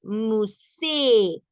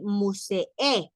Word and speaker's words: musée: va tildada una E, ahí sí se pronuncia la E, y se pronuncia una vez, aunque esté escrita dos veces. Musée. No vamos a decir musee, porque solamente está tildada una vez.